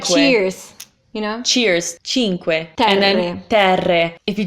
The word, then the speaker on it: Cinque Terre: So cinque, you have the ch, you You have the Q-U-E, so que, cinque. Like, think of question.